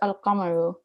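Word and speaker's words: القمر: No such assimilation takes place with the lunar letters, e.g. al-qamaru, the moon, which is pronounced al-qamaru.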